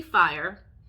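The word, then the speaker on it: Fayre: Basically, Fire. Her name is spelled F-A-Y-R-E, which I think is like really cool.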